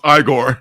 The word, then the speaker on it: Igor: to come you know Frankenstein Frank Frankenstein it's pronounced igore yes yes I I to would you say